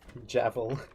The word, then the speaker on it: Jevil: The G in jeffvy is pronounced like a J. I see. Javel.